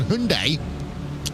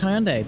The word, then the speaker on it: Hyundai: Schwartz in the Race Anywhere Sim Sports 047 Hyundai.